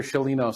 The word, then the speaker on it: Sciolino: story that I can't wait to hear Dr shalino say hello to everyone hello oh Spicer be